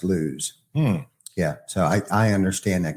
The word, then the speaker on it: Lewes: there building houses, but now everybody calls it Lewis. Weird. But it's actually pronounced Lewes.